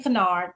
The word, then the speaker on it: Kinard: And yes, Kinard is pronounced correctly. Again, I am Kinard, the founder and head instructional coach of STAR Academic Services.